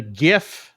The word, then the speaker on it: GIF: people and the the GIF that I'm going to go with is and it's GIF not GIF so don't even come